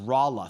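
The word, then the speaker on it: Rolla: produce a confirmed tornado it's pronounced rala thank you very much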